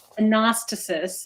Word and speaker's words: Anastasis: Anastasis, I guess, is the actual pronunciation.